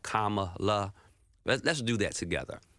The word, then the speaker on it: Kamala: that right kamla like Kamala let's do that together comma comma like you know the punctuation mark K La that's real easy right Kamala um because it just